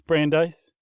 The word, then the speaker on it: Brandeis: It's Brandeis. Okay, that sounds right. Like um light ice but a little different.